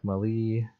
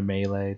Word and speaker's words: melee: so I'm gonna spec Molly or melee depends on how you say it Molly melee to